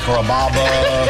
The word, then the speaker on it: Kaba: a real Sicilian name growing up people always had a hard time pronouncing my name people chop it up pretty good you know Kaba kababa Kura it's a really easy name to pronounce it's Kaba to kabas for dinner enjoy